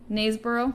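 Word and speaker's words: Knaresborough: Like you drop the K. Naysborough?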